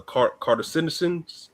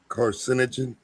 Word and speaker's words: carcinogen: I think it's a cartisin. Am I pronouncing it right? Carcinogen.